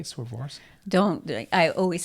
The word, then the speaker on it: Swarovski: Swarovski? I always say Swarovski. You know what it is. Swarovski crystals.